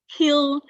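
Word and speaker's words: kiln: most common ones are what air seasoning and kill seasoning kill in the spelling of kill is k i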